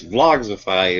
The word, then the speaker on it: Vlogsify: I said it it it's Vlogs ify it's like classifies but but instead of class you put Vlog Vlog z i I